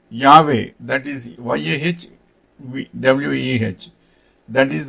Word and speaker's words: Yahweh: That is, by scholarly convention pronounced Yahweh.